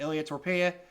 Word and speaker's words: Ilia Topuria: This was Josh Emmett versus Ilia Topuria. Did I say it right? Yep, Ilia Topuria.